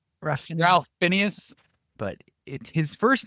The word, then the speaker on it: Fiennes: How do we pronounce it? Phineas? Ralph Fiennes. Ralph Fiennes.